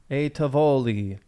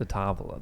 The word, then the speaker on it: a Tavola: A Tavoli. Do you think that's how it's pronounced? A Tivoli? Why would it be Tivoli? Like ravioli? Wouldn't there be an I then? I don't know how it's spelled. Is it not an I at the end? Is it an A at the end? It is. It's a Tavola then.